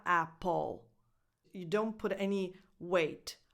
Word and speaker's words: Apple: number nine Apple Apple the stress is on the first vowel and it has the same sound that it has in words like cat and bad at so a apple and then the rest is unstressed so it's not